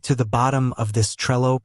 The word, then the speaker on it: Trello: to throw people off the e in Trello is a short e sound think of the Intel or well it's not ay like in tree or sea that eliminates the Trello pronunciation for most native English speakers now the Double L in English double L's usually create a single l sound think of little or